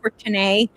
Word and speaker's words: Courtenay: I spell my name like Courtenay, so it is pronounced Courtenay, but it's COURTENAY.show.